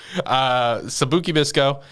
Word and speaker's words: Sabikui Bisco: Sabikui Bisco. Am I pronouncing that right? You're good.